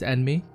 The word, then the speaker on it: Anmei: Is it Anmi or Anmei? Granted, you have to remember that the names are pronounced by American people, so sometimes it's gonna be mispronounced. It's Anmei. Anmei.